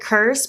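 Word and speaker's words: CRSSD: I think it's supposed to be like Crrsd, but it's spelled C-R-S-S-D.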